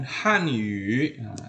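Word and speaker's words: 汉语: teman secara umum kemudian Han Yu bacanya Yu ini adalah Yu ya Ini bukan u ya Jangan dibaca Han salah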